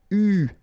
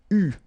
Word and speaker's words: eu: And this is pronounced, so it's an exception because normally you should pronounce it differently, but, so it's an exception, it is pronounced U, okay? U, that's the way you should pronounce it.